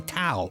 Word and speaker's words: Tau: their way to see Tau which rhymes with Wow by the way the Imperial wizard but